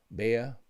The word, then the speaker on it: Bea: That's my amazing friend Bea, pronounced Bea.